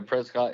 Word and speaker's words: Prescott: moved to Prescot or Prescott Arizona and we call them Prescot pres is that's the local pronunciation yeah uh so we